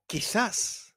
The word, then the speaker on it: quizás: Or quizás, maybe.